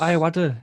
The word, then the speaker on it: Ayoade: Richard Ayoade.